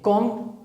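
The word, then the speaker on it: comb: कॉम कंघी, कंगा, जिसे आप बाल संवारते हैं, कॉम। यहां पे बी साइलेंट लेटर है, ये मैंने अंडरलाइन कर दिया।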